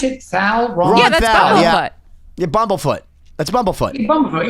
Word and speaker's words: Thal: How do you pronounce it? Thal?